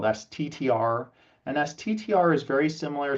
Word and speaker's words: STTR: And in general, sometimes you'll hear SBIR pronounced SIBR and STTR pronounced SITR, all the same.